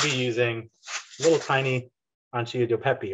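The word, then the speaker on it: acini di pepe: we're going to be using a little tiny ancilla do pepe right um a scenic pepe that's how you say it um so those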